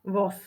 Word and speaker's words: voz: ukázať na rovnakej ukážke píšeme jeden voos počujeme tam ale jeden voz vyslovujeme to so s píšeme to so z Nezabudol si ako si